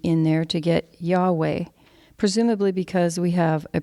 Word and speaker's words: Yahweh: in there to get yahweh presumably because we have a preference for vowels but scholars and rabbis have noted that the letters yhwh represent breathing sounds or aspirated consonants when pronounced without intervening vowels it actually sounds like